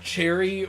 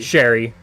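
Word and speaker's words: Che'ri: name pronounced it's like is it cherry or Sherry Sherry it's it's that s it's that that that second one yeah um and so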